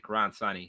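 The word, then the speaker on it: Karan Soni: I realize that's pronounced his name. Yeah, Karan Sani.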